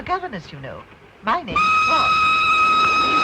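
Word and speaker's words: Froy: My name's Troy. You said Troy? No, not even D. Troy. Sorry, I can't hear. It rhymes with joy.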